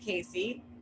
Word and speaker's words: CACI: And then I'm going to tell you about something called the CACI model, the CAACI model, pronounced CACI, which shows you how